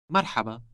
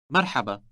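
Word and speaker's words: مرحبا: say hello in Arabic Marhaba Marhaba this word contains that sound pronounced deep in the throat make sure you imitate the speaker as closely as possible merhaba merhaba in Arabic you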